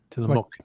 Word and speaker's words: Tillamook: I've said Tillamook. Tillamook. Sort of in between muck and mook. It's like book.